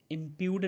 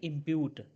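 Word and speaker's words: impute: इंप्यूड नहीं इंप्यूट।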